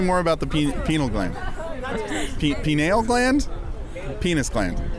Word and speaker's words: pineal: Pineal gland? Penis gland. It's not the penis gland, it's the pineal gland.